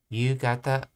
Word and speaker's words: 夕方: この辺りは昼間、この辺りは昼間は人が多いですが、夜静かです。something, let's see, 強い雨が降るそうです。強い。I know one pronunciation of this is ho, but I think this is another pronunciation here. 夕方から強い雨が降るそうです。 That's right, gata's the other one, yes. Yugata.